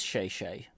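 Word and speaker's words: 谢谢: pronounce it Shay Shay it is Shay Shay but like I'm not I'm not putting spin on it like it's not it's not like I'm perp I'm not like intentionally pronouncing it humorously or anything but I don't know what the reference is but uh Shay Shay is is like it's literally just Chinese for thank you I took Chinese in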